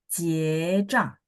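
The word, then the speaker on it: 结账: 结账 Jie nada 2. Jie zhang.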